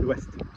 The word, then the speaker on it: ouest: Don't be worrying about the pronunciation of the word west with an OU. How have you been saying the word yes for months? O-U-I, oui, like a W. So the west is l'ouest. Yep.